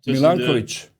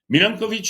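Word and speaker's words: Milanković: His name was uh Milanovich 19th century if I remember Milanovich Milankovich has been proving what is making the climate and it's uh it's uh uh how to say it.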